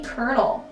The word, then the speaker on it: colonel: nine we have the colonel and i hate how colonel is spelt colonial like c-o-l-o-n-e-l like where's the cur sound there's no r like what's going on anyway from a young